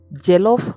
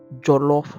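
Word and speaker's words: jollof: pronunciation of the name in Cameroon we refer to this dish as gelof rice however in Nigeria it's referred to as jolof rice both meals are popularly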